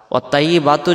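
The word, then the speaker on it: الطيبات: এখন যদি আমরা বলি ওয়াত-তাইয়্যি ওয়াত-তাইয়্যি, এই ত অক্ষরটা তখন তাইয়ের উচ্চারণ আসতেছে, তাহলে এটা অক্ষর আলাদা এটা অক্ষর আলাদা। ওয়াত-তাইয়্যিবাতু যখন আমরা পড়ব তখন পবিত্রতা এর অর্থ আসবে না।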